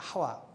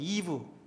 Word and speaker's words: 하와: 말을 그대로 발음한 겁니다 하와 그 영어 성경에 보면 이브라고 돼 있어요 이브 이부 근데에 이브라는 발음은 어 이 코쟁이들이 혀가 짧고 입이 삐뚤어져 가지고 발음 잘못한 겁니다 원래 제대로 발음하면 하와가 맞는 거예요 어 히브리 말 고대면